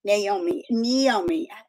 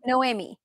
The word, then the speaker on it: Noemi: Naomi. I always say it wrong, so say it for me. No, it's like say no, Noemi.